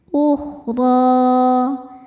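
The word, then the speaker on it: الْأُخْرَىٰ: Huruf ro dibaca tafkhim karena harakatnya di atas yaitu fathah. Cara bacanya ditebalkan. Ukhdro. Dan di sini juga ada hukum mad thobi'i. Mad thobi'i muqaddar. Karena ada ro dengan harakat fathah panjang. Cara bacanya panjang dua harakat saja.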